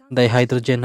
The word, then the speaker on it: dihydrogen: Yep, H2O, dihydrogen oxide. They say it right? Dihydrogen oxide. Because you don't use bi, you use di, like carbon dioxide.